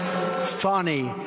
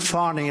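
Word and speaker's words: Fani: the horrible case of Fannie Willis. It's actually pronounced Fannie. It's F-A-N-I, but you pronounce it Fannie, a little French accent there.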